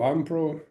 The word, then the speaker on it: iimpro: Is it Impro, Ampro, Impro. Yeah, Impro. Impro? Yeah, Yeah, Impro. That's right. Yeah. nice. It's some people think it's iimpro or Impro.